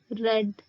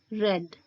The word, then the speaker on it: read: reader read read read in this verb the spellings for all the three forms are same but the pronunciation of the second and third form of read are red red next verb that we